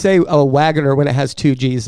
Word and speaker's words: Wagner: How do you say Wagner when it has two G's in it? It's still Wagner. Wagner? No, it's still Wagner. The second G is silent.